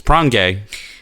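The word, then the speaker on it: Pronge: last name finished with gay well it's not spelled like that it's prongay that's just how you pronounce it he was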